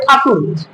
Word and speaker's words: ঠাকুর: এখানে টিজি ও আরই টাগর বানানটা আসলে টাগর কিন্তু উচ্চারণ হবে ঠাকুর রবীন্দ্রনাথ ঠাকুর চাইলড অফ